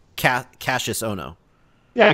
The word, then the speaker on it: Kassius: it was it's cat Cassius oh no yeah Cassius like Cassius Clay I have been saying